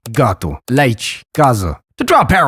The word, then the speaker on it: casa: And yet the word casa is spelled with an S-E. That's because it's voiced if it's between 2 vowels, or if it's followed by any of the nasal consonants.